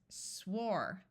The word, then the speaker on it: swore: has the same sound here again we have a silent E so this word is swore right here we have